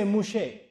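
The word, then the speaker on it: Moshe: does Musa me and they don't say Musa in Hebrew they say mouche so torah to musa they said taurat mouche that's how they pronounce it I said what does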